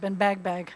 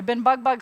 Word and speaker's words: Ben Bag Bag: that name Ben bugbug some people pronounce it Ben bagbag that's only in the south that they say Ben bag bag it's really supposed to be Ben bug bug um the same people